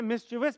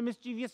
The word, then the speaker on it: mischievous: सही प्रोनाउंसिएशन है मिस्चिवस। पाकिस्तान में मिस्चीवियस कहा जाता है इसको।